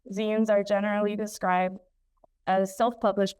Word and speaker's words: zine: Pronounced as in magazines, zines are generally described as